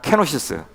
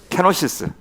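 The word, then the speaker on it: κένωσις: 있는데 그것이 바로 케노시스 불러요 보통 그 헬라는 케노시스 우리 한번 발음 한번 따라서 한번 해 보실래요 시작 케노시스 케노시스 그서 비움이라는 뜻입니다 비움 예수님이 그것을 어떻게 표현하시면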